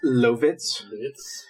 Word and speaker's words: Lovitz: John Lovitz, actor and comedian. It's Lovitz. Okay, and I'm not sure how to pronounce this entirely, but Tree Trang?